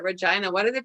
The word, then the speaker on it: Regina: it's so strange that they call it regina why do they pronounce